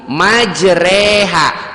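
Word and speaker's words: مجريها: majreha wa mursaha bismilahi majreha tulisannya majroha tapi dibacanya majreha itu namanya imalah itu qiroat itu seperti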